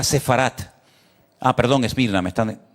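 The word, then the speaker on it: ספרד: ¿Saben que España, la palabra España, el nombre, el país de España en hebreo que está en la Biblia se se pronuncia sefarat?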